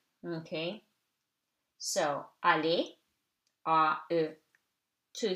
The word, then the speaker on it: aller: So, aller, A-E, two syllables, two vowels, two syllables. After E, R is silent.